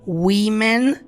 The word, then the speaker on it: women: Porém, se for escrito com E, você vai pronunciar women e é plural.